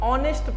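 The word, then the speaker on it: honest: एन ई एच टी इसको हम लोग ऑनेस्ट पढ़ते हैं लेकिन एच ए है तो नेस्ट होना चाहिए था तो आप बोलोगे सर नहीं ये ऑनेस्ट होता है मैं पूछूं क्यों तो कई लोग बोलते हैं सर एच है ना साइलेंट है क्या है साइलेंट है देखो साइलेंट का मतलब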